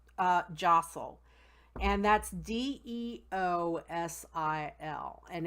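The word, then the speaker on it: deosil: go something that's called jostle and that's deos IL and it but it's pronounced jostle and that means clockwise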